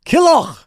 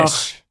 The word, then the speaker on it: Killough: But the proper pronunciation of your last name, of course, Killough, Scottish. Killough, technically, yeah.